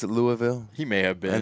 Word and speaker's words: Louisville: And yes, it's pronounced Louisville, not Louisville or Louisville.